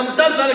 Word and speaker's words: musalsal: And the musalsal, again, it rhymes with silsila, really literally tying yourself up.